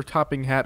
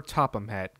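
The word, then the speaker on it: Sir Topham Hatt: Someone tweeted me a picture of Professor Topping Hat holding a gun. As I'm editing this, I realized I butchered his name. It's Sir Topham Hat.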